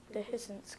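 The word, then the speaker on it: dehiscence: second have here okay ready okay deance deance dehance can I have the definition the bursting open of a capsule or POD at maturity deiss deiss are there any alternate pronunciations deiss dehance can I have language the first part of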